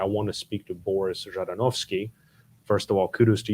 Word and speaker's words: Zhadanovskiy: say hey i want to speak to boris jardinovski first of all kudos to you for pronouncing my last name uh but second of